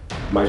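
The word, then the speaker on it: 妈: um ideograma para égua, mas na verdade a presença do radical para cavalo se deve ao fato de sua pronúncia ser a mesma da palavra chinesa para mãe, que é ma.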